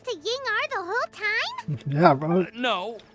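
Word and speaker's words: Ying'er: I uh um collaborated with a certain Miss Ying r that's how you say her name it's Ying R I've been saying yinger like a damn slur all right oh you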